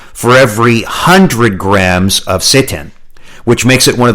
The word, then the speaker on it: seitan: First is seitan. And seitan is spelled S-E-I-T-A-N.